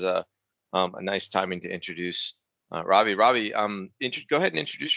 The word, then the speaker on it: Ravi: My first name is easy to pronounce, Ravi. Last name is Kashyap. And I also like to say, if you ever had ravioli the food, you cannot mispronounce my name.